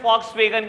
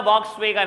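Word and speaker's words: Volkswagen: इट इज a German company और German में वी को FE प्रोनाउंस करते हैं। एड देख लेना, कभी नहीं बोलता वॉक्सवैगन, हमेशा बोलता है फॉक्सवैगन। फॉक्सवैगन है कंपनी का नाम, वॉक्सवैगन नहीं है बेटा, ठीक है जी।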